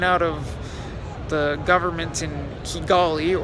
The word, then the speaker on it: Kigali: of the government in Kigali or Chi gali as locals tend to pronounce it there have been numerous